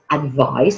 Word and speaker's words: advise: our big spelling mistakes advised is the way we spelled the verb advice and has a different pronunciation is with a C which is the noun giving you some advice but I'm going to advise you and it's got the sound of zet well done advise the